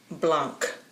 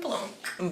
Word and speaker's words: Blanc: I'm like, it's blanco without the O.